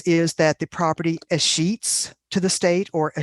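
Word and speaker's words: escheats: word for this is that the property is sheets to the state or a sheets to the county and that word is spelled e e-s-c-h-e-a-t-s as sheets but it's not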